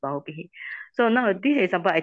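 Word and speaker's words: bahubbīhi: Okay, so remember it's a bahu bihi. Here you don't put a long I here. Actually, it's bahu bihi.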